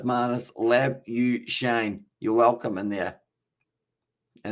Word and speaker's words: Labuschagne: Of course, depends on whereabouts you're from, whether you are saying it with the Afrikaans accent or whether you are going with the way that he has decided to pronounce it.